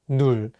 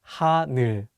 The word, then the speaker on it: 하늘: Many people mispronounce the last syllable as 눌, so be careful. Let's say the word 하늘.